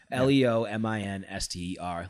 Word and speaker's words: Leominster: Pronounced Leominster. Let's go. That's the Pop Warner football chant. Oh, it is spelled weird, but it's Leominster is how it's spelled because it's British.